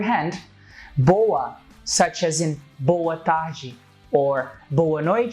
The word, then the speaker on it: boa tarde: in English so you can hear both origin tarah G and that's how most of the foreigners most